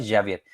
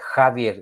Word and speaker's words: Javier: Meu nome não é Javier, é Javier. Eu tenho sotaque espanhol.